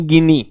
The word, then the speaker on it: गिनी: ठीक है sir, Guinea दिया है, फिर से बता रहा हूं, गिनी गिनी गिनी। ये मुनिया, छमिया, टिनिया बंद करो, इसे गिनी बोलो।